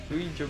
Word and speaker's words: Ouija: Yeah, that's how you say It's it. pronounced Ouija. It's pronounced Ouija board.